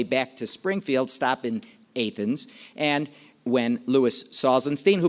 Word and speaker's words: Athens: Most people would incorrectly pronounce that Athens, Illinois, but if you're an Illini, you know the correct pronunciation, of course, is Athens, Illinois.